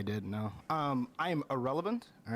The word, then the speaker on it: Ahrelevant: no um i am irrelevant all right um the actual word irrelevant was taken and i like it so it's pronounced exactly like the word irrelevant like somebody is a nobody and yeah i'm a